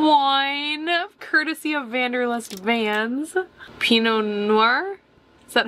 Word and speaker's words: Pinot Noir: Pinot Noir, is that how you say it?